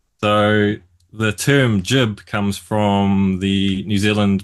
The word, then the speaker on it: GIB: Uh I we are called jibto stoppers in New Zealand.